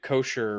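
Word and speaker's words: Koechner: ] what's his name David kosher right that's how you pronounce his name he's one of Ricky's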